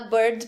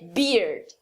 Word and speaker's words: beard: Então, muita gente vai falar bird para barba, mas é beard.